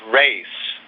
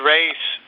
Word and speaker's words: res: Christian, I think I heard somebody say that res, R-E-S, is actually pronounced race.